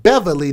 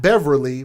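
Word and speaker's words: Bevily: Tea, last name Beverly, not Beverly, but be E V I L Y, who's 28 years old.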